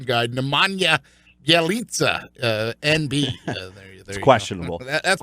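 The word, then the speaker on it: Nemanja Bjelica: or I believe Keith according to our official pronunciation guide Nemanja yelitza and be questionable that's perfect get back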